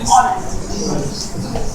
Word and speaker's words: honest: And sometimes it's not pronounced at the start of a word, like honest.